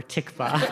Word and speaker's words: tikva: it's either shir or tikva. So great, tikva. Tikva, you might notice, rhymes with mikvah.